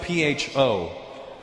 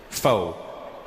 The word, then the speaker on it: Pho: It's spelled P-H-O. Pho. But it's not the way it's pronounced. And in America, people are annoying because I'll be like, yeah, let's go get some pho. And they'll be like, Russell, it's actually pronounced pho.